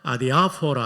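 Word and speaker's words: ἀδιάφορα: 아디아포라. 아디아포라. 여러분, 왜 이렇게 발음이 좋아요? 액센트까지 잘 맞추세요. 헬라는 엑센트 세 개가 있는데이 강한 액센트 아디아포라 한번 더 해 볼까요?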